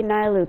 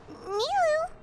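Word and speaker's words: Nilou: Oh, maybe Nailu can turn him into something. Curse. Huh? Nilu?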